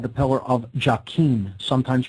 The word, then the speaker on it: Jachin: The pillar marked with the letter S there on the left is called the Pillar of Jachin, sometimes pronounced Jachin.